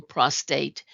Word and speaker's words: prostate: the term and so note that there isn't an r in prostate so if it is